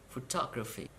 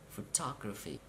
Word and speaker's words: photography: and now through the for the words ending with C Y T y ph Y and G Y please count syllable from the end of the world and at the third syllable you have to stress for example democracy democracy